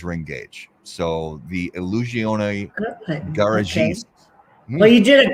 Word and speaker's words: Garagiste: So this one is the Illusione Garagiste. So Wow. it looks like garagiste, but it's garagiste. Wow.